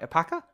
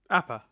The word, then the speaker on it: Appa: Apaka? Appa.